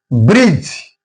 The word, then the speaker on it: bridge: For example, bridge here D remains silent because it comes before G.